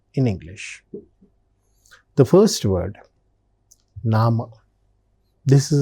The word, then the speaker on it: Name: In German also, it is said in the same way with a different pronunciation, that is nama.